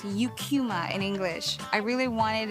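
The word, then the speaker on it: Eucheuma: pronounce the name of the seaweed species as Ikuma. The scientific name is pronounced Eucuma in English.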